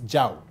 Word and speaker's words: Zhao: It's Zhao. Zhao. Ah, okay. You have to roll the tongue.